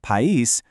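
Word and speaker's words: país: But, pais, pronounced pais, means country. Notice the stress shifting to the second syllable again?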